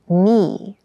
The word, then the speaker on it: knee: hard keep in mind yes this word begins with a K in spelling but the pronunciation is knee the boy fell and